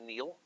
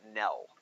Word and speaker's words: Niels: You pronounce this not Neil, but Nell. That's how you pronounce it.